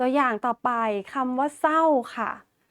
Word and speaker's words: เศร้า: ต่อ ไป คำ ว่า เศร้า ค่ะ เรา ก็ จะ อ่าน ว่า สร เอา เสา ไม โท เศร้า ไม่ อ่าน ออก เสียง ร เรือ นะ คะ แต่ คำ ควบ